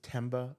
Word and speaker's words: Themba: My name is Temba. That's spelled t h e m b a. The h is silent like a Thomas.